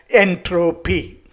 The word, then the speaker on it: entropy: decided to call as entropy he coined this term in a way it rhymes with energy and he wanted to